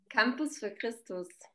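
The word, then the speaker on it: Campus für Christus: Campus for Christus.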